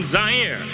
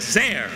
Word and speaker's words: Zaire: 'Hello everyone Howard Cosell coming to you live from Zaire. Some would pronounce it Zare, they’re wrong.’ It got big laughs.